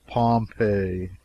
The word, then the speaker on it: Pompeii: the buried city of Pompei they pronounce it pompe I always had an